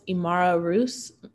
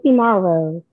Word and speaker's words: Imara Rose: Correct me if I'm wrong in pronouncing this, Imara Roos mentoring program? It's Imara Rose. Oh, okay, Imara Rose. Yeah, it looks like Rose, but it's Rose.